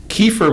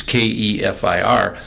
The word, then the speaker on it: kefir: type the word as Kefir, and the pronunciation that's in the computer says kefir, and nobody I know says kefir.